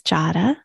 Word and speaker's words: Jada: listening my name is jada rhymes with prada we're talking with a